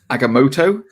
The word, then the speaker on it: Agamotto: So, but it's just Agamotto. Thank you very much. Hello motto. What is your motto, Dr. Strange? It's Aga. It's Aga. Whatever.